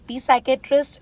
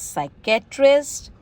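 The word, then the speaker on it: psychiatrist: Pseudo, not पी pseudo, not पी साइकेट्रिस्ट, इट्स साइकेट्रिस्ट। साइकिक, psychology.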